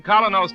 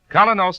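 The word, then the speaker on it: Kolynos: Ladies and gentlemen, Colinos Toothpaste presents Mr.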